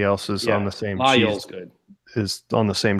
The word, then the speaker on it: Laguiole: How do you pronounce it? Laguli? Lagule? No, Layol, you motherfucker, you.